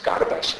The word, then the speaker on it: Gardash: It's pronounced, in Eastern Turkish it's pronounced Gardesh, in Western Turkish Kardesh. But among the kids here it becomes Gardash.